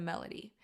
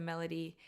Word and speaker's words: melody: like starting with a melody is because certain words have certain accents you know what's a great example melody melody the accent is on the beginning part of the phrase or of the word and so you want